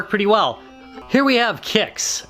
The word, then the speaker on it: Qix: well here we have kicks it's spelled qix but pronounced kicks absolutely wrong it squeaks